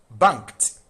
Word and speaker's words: banked: Banked. Bankked. This E D is pronounced as. So there's KT.